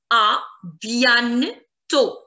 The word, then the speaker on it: à bientôt: The sound of the letter I told you, is E. So it's bien, bien. A bientôt. O. A bientôt. A bientôt. The last T is going to be silent.